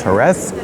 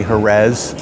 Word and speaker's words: Jerez: and I know that the actual Spanish pronunciation is herth but I'm going to say Herz the English pronunciation because I'm speaking English